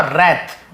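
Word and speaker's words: wrath: Raise और रैथ, W silent होता है, रैथ लेकिन लिखते हैं।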